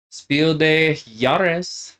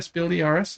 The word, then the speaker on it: Spiel des Jahres: Devin, do you know how to pronounce that? Spiel de Jahres. That was really good. I think, yeah, Spiel de Jahres is how they say it, I think.